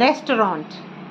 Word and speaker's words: restaurant: It's T is silent.